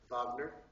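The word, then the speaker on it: Wagner: German romantic Opera is rard not Richard rard vogner W AGN r vogner i mean rard spelled like Richard but pronounced rard sorry uh he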